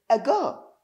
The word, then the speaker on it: ago: to use the word a girl a girl the meaning of a girl first of all try to know the pronunciation we say a girl now getting a goal